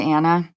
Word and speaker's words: Anna: my name but it is anna as opposed to anna my parents did that